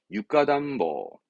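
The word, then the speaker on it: 床暖房: 이때 발음은 육가담보. 바닥이 육가거든요. 그래서 육가담보, 육가담보 이런 식입니다.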